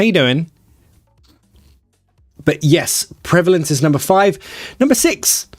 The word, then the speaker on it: prevalence: prevalence you Legend yes the prevalence pronunciation the prevalence three schwas no two schwas I'm lying pre